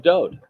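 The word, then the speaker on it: דוד: set to music of Do he is the Beloved and do is the correct pronunciation of his name it is not David there is no second vowel in his name just one the W and it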